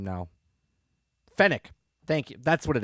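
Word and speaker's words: Fennec: fen uh finn right is that i can't pronounce her name now fennic thank you that's what it is fenic fenix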